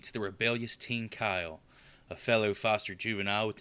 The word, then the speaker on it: Kyle: too it like me Kyle it's one syllable he makes it like three he says it like